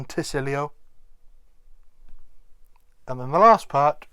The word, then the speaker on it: Tysilio: It's a T, as in the Y becoming an I rather than a T or a tie. It's not Tysilio or Tysilio, it's Tysilio.